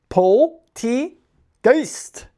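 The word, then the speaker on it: Polteageist: For everyone's favorite segment of the day, Pokemon pronunciation of the day. Ugh. Poltegeist. Poltegeist. These Pokemon multiply by creeping into teapots and pouring themselves in the leftover tea. Wow. Poltegeist.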